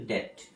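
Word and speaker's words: debt: you should not রান ইটু ডট এটার উচ্চারণ কিন্তু বি থাকলেও বি উচ্চ হবে উচ্চারণ হবে ডট টি বাটিবি বা ডিটি এরকম উচ্চারণ হবে অর্থ হচ্ছে ঋণ দার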